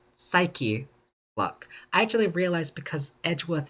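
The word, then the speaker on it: Psyche-Lock: It's pronounced psyche, by the way. I said psych lock the entire time that I I played this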